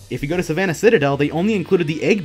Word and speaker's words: Citadel: time constraints, there's no excuses for excluding Savannah Citadel. Yes, I learned how to pronounce it. Shut up, Sidaddle.